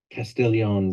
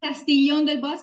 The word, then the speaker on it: Castiglion: Our Guest today is Selena ptalis Hospitality at castillion debasco did I pronounce all that okay yeah it's castillon but a really good pronounce yeah and